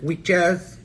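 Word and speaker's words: wikkjaz: there was a word w-i-k-k-j-a-z i believe it's spelled right like weak jazz and it meant necromancer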